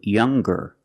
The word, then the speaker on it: younger: young and strong to younger and stronger or the youngest the strongest when we change these adjectives with e r or with est we're going to pronounce the G sound the hard G so it's younger G